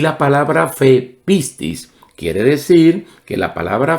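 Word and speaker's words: πίστις: Por ejemplo, la palabra fe en griego se pronunciaría de esta manera, pistis, pistis. Y el verbo creer se diría pisteuo, pisteuo.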